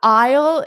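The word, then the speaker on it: aisle: I think what Manuel said, if you just think of it like the word isle, I will is really the same pronunciation. So just imagine you're saying I will as a contraction.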